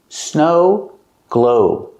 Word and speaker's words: snow globe: Snow and globe. They both have the same vowel, the long O sound like no and go. Snow globe. Stress both syllables. Snow globe.